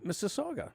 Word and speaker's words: Mississauga: Mississauga.